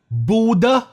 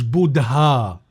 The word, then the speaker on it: Buddha: المفروض اله دي ما بتبانش في النطق، فبيتقال بودا مش بودها، فسيدارتا مش سيدهارتا، سيدارتا.